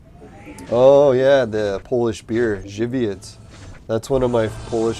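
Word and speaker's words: Żywiec: yeah the polish beer shibiats that's one of my polish friends favorites i think jiviets is how you pronounce it but it could be wrong i don't know how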